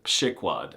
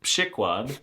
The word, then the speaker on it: przykład: 2. A pronunciation that does not at all correspond to how it's written, przykład. And 3.